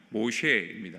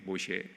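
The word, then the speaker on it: משה: 근데 여러분이 모세의 이름을요 히브리어로 정확하게 발음하면 모쉐입니다. 모쉐.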